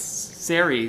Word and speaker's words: Sari: It's not sorry. It's Sari rhymes with fairy.